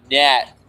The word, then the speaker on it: gnat: We were named stuff that rhymes with rat. And I said gnat. And she said, no, that has a G in it.